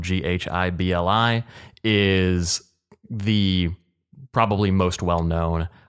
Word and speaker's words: Ghibli: His Studio Ghibli, it's spelled Ghibli, is the probably most well-known producer of like Japanese anime films out there.